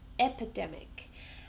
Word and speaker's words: epidemic: So epidemic has four syllables. Epidemic. And we stress the third syllable. Epidemic.